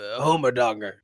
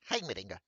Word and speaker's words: Heimerdinger: Waffleberg has a question for you, Homerdonger. Heimerdinger. That's what I said. Then you have a very weird way of pronouncing it.